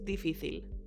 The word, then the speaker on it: difícil: Porque para mí, normalmente es difícil. Let's see what you've learned. It is. Es. Difficult. Difícil. With an accent on the middle I.